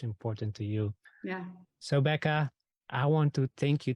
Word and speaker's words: Bekah: um you can just search for me it's Becca and it's spelled be e kah you you can find